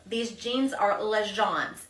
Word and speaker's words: L'Agence: My jean, we know how to say this now, L'Agence. These jeans are L'Agence.